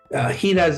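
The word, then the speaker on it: jiras: the buses in particular in Spanish they will call hidas hiras is spelled j-i-r-a-s enas and basically what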